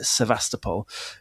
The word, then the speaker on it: Sevastopol: So during the siege of Sevastopol, I'll say it properly, but I just panicked there and said it too quickly. Sevastopol, his experiences were part of the thing that documented how bad the military leadership was.